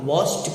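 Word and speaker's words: washed: ठीक है, तो आप वॉश में ईडी जोड़ रहा है, इसे आप वॉश्ड कहेगा। क्या कहेगा, वॉश्ड, यानी ट की ध्वनि से प्रोनाउंस कीजिएगा।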